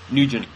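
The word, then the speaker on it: Nguyen: every time i stumble upon it i can't pronounce it n-g-u-y-e-n yes nugent nugent okay i knew someone with that name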